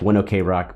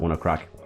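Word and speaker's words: ONE OK ROCK: rock band one o'clock it's like one okay rock but you pronounce it one o'clock and the song was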